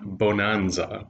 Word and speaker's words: Bohnanza: this is the game bonanza b-o-h-n-a-n-z-a um which is like bonanza but with beans in german it's also known as